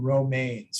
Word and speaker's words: Romaine: have roman now is it roman or romaine because i know some row i always call them romaines from grimsby is that how you pronounce your last name is pronounced romaine you're correct romaine got it perfect